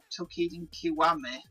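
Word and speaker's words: Toukiden Kiwami: Now, the previous Tokiden game, Tokiden Kiwami, that's how you pronounce it, I literally spent over 100 hours and something like 60 hours to complete at least.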